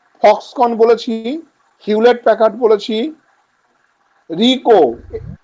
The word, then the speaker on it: Ricoh: বলেছি, Hewlett Packard বলেছি, রিকো, RICOH, এইচ এর উচ্চারণ হয় না, রিকো, ডেল, IBM, DELL, IBM এর প্রত্যেকটা হচ্ছে তোমার ক্যাপিটাল, গেটওয়ে, GT, আইবিএম এর পর স্যার কি হবে?